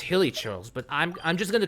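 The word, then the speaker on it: Hilichurl: But anyways, we took care of those hill churls, so hilly churl. There's an I in that, so it's basically pronounced hilly churls, but I'm just gonna call them hill churls.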